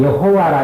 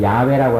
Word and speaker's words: 야훼: 그래서 옛날에는 이 발음을 여호와라 이렇게 했는데 요즘 학자들은 야훼라고 하는 게 더 정확하다 이렇게 해서 이름을 야훼라고 이렇게 부릅니다.